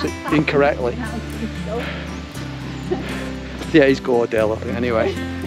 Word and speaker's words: Gordale: you and on anybody else that's listening so gorsdale score you probably won't be one of these films if i didn't pronounce it incorrectly yeah he's gordale anyway it's literally it's literally just there around